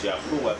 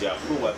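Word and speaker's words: יהוה: And I said that the pronunciation is Yahuwah. I said that the pronunciation is Yahuwah.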